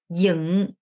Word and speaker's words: dựng: 요거는 응이 아니라 영이에요. 그러니까 하면 입을 다물어야죠. 이렇게 해야 되잖아요. 근데 이게 아니라 얘가 조금 이렇게 벌려요. 어쩌. 그래서 혀로 이렇게 발음을 강하게 내줘야 돼요. 영, 여 발음이 나야 됩니다. 정 안 되시는 분들은 영 이렇게 하시면 되는데 사실 이게 맞는 발음은 아니에요. 정 안 되면이라는 얘기했죠, 제가 분명히. 그래서 이 연습을 하셔야 돼요. 영 이렇게 발음하셔야 됩니다.